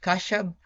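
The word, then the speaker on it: خشب: We have wood, which is pronounced Kashab.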